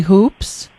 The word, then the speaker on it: Hoopes: we even started recording am i pronouncing correctly hoops uh yes you are okay my name is